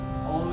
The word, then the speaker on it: Om: We're going to do Ah, Oo, and So Om is made up of those 3 syllables. So when you combine Ah and Oo, you get O. But for this purpose, we're going to split them into 3.